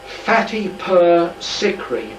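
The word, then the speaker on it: Fatehpur Sikri: how you pronounce it it might be pronounced fatty per secret but it's spelled f-a-t-e-p-h-u-r s-i-k-r-i two separate words and this is a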